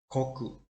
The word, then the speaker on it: 国: about the olympia first so let's learn to pronunciation together koku koku goku is the reading of fondue me